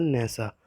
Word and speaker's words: Nassau: सो the Bahamas की जो capital है उसका नाम है नेसा, और जो इसको NASSAU इसको प्रोनाउंस किया जाता है नेसा.